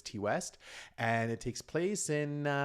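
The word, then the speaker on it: Ti West: So this is Maxine, directed by, however you would pronounce his name, T or Ty West. I do believe it's T West, and it takes place in the 1980s Hollywood, and it takes place during.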